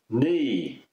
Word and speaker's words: knee: with a silent k words that start with a silent k things like no the verb to no of course uh knee knife Etc so many